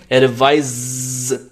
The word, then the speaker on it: advise: देखिए, ADVIC, जहाँ पर C है, इसको बोलते हैं वॉइसलेस. वॉइसलेस साउंड है यहाँ पर. जैसे यहाँ पर लास्ट में स का साउंड सुनना चाहिए, जैसे एडवाइस. एडवाइस. एक आपने देखा होगा ADVISE होता है, S. जहां S होता है उसको बोलते हैं वॉइस्ड साउंड. वहां पर वॉइस्ड साउंड से आप प्रोनाउंस करेंगे इसे, और आप प्रोनाउंस करेंगे एडवाइज, एडवाइज.